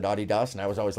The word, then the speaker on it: Adidas: that's a very low Adidas is a big company which by the way good on you for saying it correctly it drives me nuts whenever I hear people say Adidas because I just happen